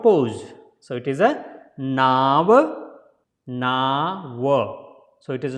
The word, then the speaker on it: Nava: So it is not Nava. Lot of people will say Nava. Yeah, so it is not Nava, it is a Naava. Naava is the boat. In Sanskrit, Naava is the boat, not Nava.